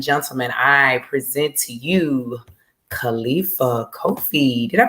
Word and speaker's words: Khalifa Kofi: So, ladies and gentlemen, I present to you Khalifa Kofi. Did I pronounce that correctly?